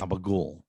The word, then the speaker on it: gabagool: son's been calling ant-man abba ghoul right so i looked it up and it's it's it's a it's a way of pronouncing i think it's capicola ham you know what i